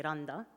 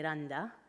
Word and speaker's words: Randa: So the Egyptians will say Randa, and the Palestinians will say Randa, and the British teachers at my school would say Randa.